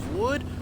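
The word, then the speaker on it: Would?: Which I think, oh nice, they got Alice in Chains Wood.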